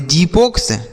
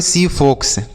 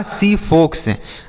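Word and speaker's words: xiphos: जीपोक्स। क्या इसे हम जीपोक्स पढ़ेंगे? नहीं। अब यहां पर जो एक्स का उच्चारण है बच्चों, वह स के रूप में होगा। तो इसे हम पढ़ेंगे सीपोक्स। क्या पढ़ेंगे? सीफोक्स।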